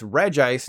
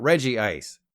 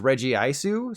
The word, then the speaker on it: Regice: So there's Regirock, Registeel, and Regigigas, but then it's Regice, not Regice. And in Japanese, the pronunciation is Regiisu, so technically it should be Regice.